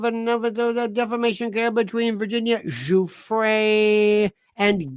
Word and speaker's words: Giuffre: Learn how to pronounce Giuffre. Virginia Giuffre. One moron called her Giffer.